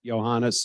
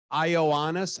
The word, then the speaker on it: Johannes: we're walking to the treaty room to greet Johannes who's pulling up in a motorcade any minute and on the walk Trump is saying so how do you pronounce this guy's name IO honest I said no no Johannes okay Johannes when